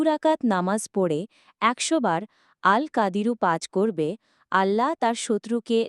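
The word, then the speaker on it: القادر: 69 বাংলা উচ্চারণ আল কাদিরু। বাংলা অর্থ শক্তিমান। ফজিলত। যে ব্যক্তি দু' রাকাত নামাজ পড়ে 100 বার আল কাদিরু পাজ করবে আল্লাহ তার শত্রুকে লাঞ্ছিত অপদস্ত করে দেবেন।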